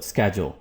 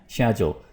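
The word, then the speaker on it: schedule: सो स्केड्यूल एंड शेड्यूल, सो दोनों ठीक हैं, राइट।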